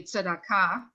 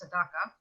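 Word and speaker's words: צדקה: In Hebrew, it would be tzedakah, and the Ashkenazi or Yiddish pronunciation is tzedakah. So you just kind of change the vowels a little bit and also which syllable is accented.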